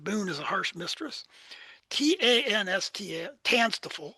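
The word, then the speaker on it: TANSTAAFL: TANSTFL, it's pronounced, stands for there ain't no such thing as a free lunch.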